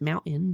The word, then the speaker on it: mountain: people that don't really they don't pronounce T's in mountain. It's mountain.